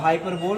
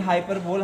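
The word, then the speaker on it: hyperbole: एकदम, क्या हो जाएगा, हाइपरबोल हो जाएगा। लेकिन हाइपरबोल हमें नहीं बोलना है, हमें पढ़ना क्या है, बोलना क्या है, उसे हाइपरबली बोलना है। राइट प्रोनाउंसिएशन क्या होगा, हाइपरबली होगा।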